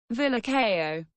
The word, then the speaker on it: Villarcayo: I have a solution villa Ko oh so that's how you pronounce it and it's lights out